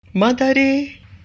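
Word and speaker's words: まだれ: named Ma plus Tare, and due to euphonic changes, Ta is pronounced as Da, so we call it Madare.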